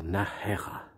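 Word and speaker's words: Nájera: on s'en va à nahera un peu difficile à prononcer le J le Nar alors c'est là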